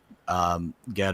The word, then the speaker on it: Ged: the book is about Ged or Jed, depending on how you want to pronounce it. I always thought it was Ged. Do people say Jed? I'd sometimes say Jed. I don't remember why. But I also, with the, you can read it with the hard G.